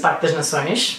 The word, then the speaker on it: Parque das Nações: Parque das Nações.